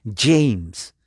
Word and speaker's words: James: rey james j ms la a es a la que no se pronuncia entonces y la jota no es gota es gay entonces se pronuncia james lo traduce en español